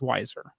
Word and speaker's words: Wiser: wiser uh that is the correct name is wiser wiser I've never heard